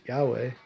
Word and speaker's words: Yahweh: but the Creator they say his name is pronounced Yahweh Allah Almighty are heavily robbed or raba raba